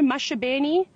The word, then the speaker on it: Maxabeni: Quite a well-known male leopard that everybody might know, Mashabeni, or it's spelt Maxabeni if you've just maybe seen the spelling.